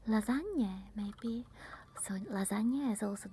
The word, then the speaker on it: lasagne: Lasagne, maybe. So lasagna is also the nya. Lasagne. And it's not lasagna. You can't find the lasagna here because lasagna means that it's singular. But we say lasagne.